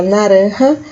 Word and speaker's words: naranja: laranja se fala naranja Lembrando que a gente fala naranja seu J tem som de R vocês não podem ser